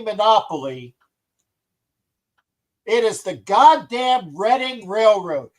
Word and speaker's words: Reading: __ ] play Monopoly, it is the goddamn Reading Railroad. It's not the Reading Railroad. It's Reading. It's I know it looks like it says Reading. It looks like you're saying the Reading Railroad. It's the Reading Railroad, please.